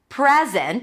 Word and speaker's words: present: or as a noun, the secret is in the stress. Present. If the stress is on the first syllable, it's a noun. I want to give you a present. Present. If it's a verb, the stress is going to be on the second syllable.